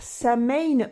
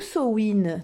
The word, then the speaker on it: Samhain: ce jour de Halloween, Samhain ou Samhain. Tout dépend de votre prononciation, tout est accepté.